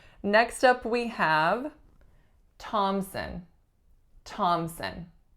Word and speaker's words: Thompson: we have Thompson Thompson notice there are several things going on with this last name the first the obvious one is that there is no P sound so that P is entirely silent there are two syllables the winner is on the first the sound that the winner makes is aa and the second syllable is a schwa thomson thomson next one we have